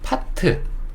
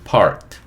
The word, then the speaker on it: part: 그래서 요것도 한국 사람들 요 R 빼고 얘기하니까 파트, 야 파트를 좀 나눠서 얘기하자, 파트를 나눠봐, 이렇게 얘기할 때 쓰는 단어죠. 그 단어예요. 파트. 그쵸? 근데 한국 사람들이 요 R을 빼고 얘기해서 그렇지 원래 발음은 part 이렇게 된다.